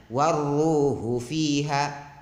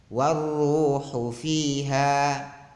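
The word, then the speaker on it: وَالرُّوحُ فِيهَا: Kemudian fiha yang mestinya ada alifnya, bacaan mad, dia dibaca tanpa mad fiha, dia bacanya waruhu fiha, mestinya waruhu fiha.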